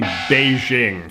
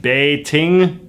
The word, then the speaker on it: Beijing: In China, the Chinese write Beijing like this and pronounce it in a unique tonal way that our clumsy Roman characters can't fully capture, sort of like Bay-ting.